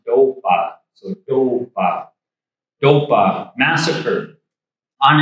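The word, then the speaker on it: topa: Four in Lakota is pronounced dopa.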